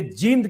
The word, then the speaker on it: जींद: दर्शकों से माफी चाहूंगा, एक्चुअली जींद को बोलते वक्त कई बार मैं जिंद बोल देता हूं, और हेमंत अत्री साहब ने भी 2-3 बार फोन किया कि आप सही उच्चारण कीजिए, फिर नीचे देखा यूट्यूब पर लोग कमेंट भी कर रहे हैं, तो उन सबसे माफी, कोशिश करूंगा जींद बोलूं, लिखता सही हूं, बोलने में होता है।